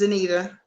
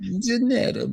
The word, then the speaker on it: Danita: It's Danita. Danita? Okay, I said it wrong. I said it like I was from Britain or something. It's okay. Everybody pronounces it like that. Danetta Baby.